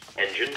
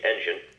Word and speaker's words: engine: Engine, start up. Carefully pronounce the N and Jin in engine and the st, t, and p in start up.